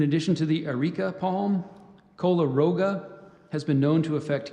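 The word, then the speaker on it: koleroga: to the Eureka Palm Cola Roga has been known to affect coffee and citrus trees in tropical and subtropical climates I gave you the pronunciation of cola Roga there's one alternate kala Roga c-o-l-o-r-o-g-a coleroga Cola Roga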